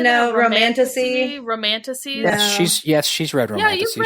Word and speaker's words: Romantasy: Romantasy.